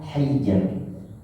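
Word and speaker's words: حِجْر: Maka dibaca tipis. Bacanya hijr. Hijr. Hijr. Bukan hijr.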